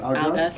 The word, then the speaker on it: Algas: Your company, how you pronounce it? Algas? Yeah, Algas Algas, Organic, right?